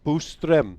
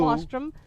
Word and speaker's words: Boström: who is Swedish, that we are pronouncing Martin's last name incorrectly. So and it you should know be how I am. Boström. Boostrom. Boo. Not Ba. Not Boo. Bostrom.